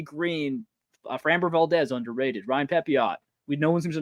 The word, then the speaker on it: Pepiot: framber Valdez underrated Ryan pepiot we know one seems to know how to say his name I think his French name would be pepio but you never know uh